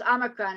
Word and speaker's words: Omicron: Omicron is it's pronounced Omicron, and is a Greek letter, and I only know that because it was on the news.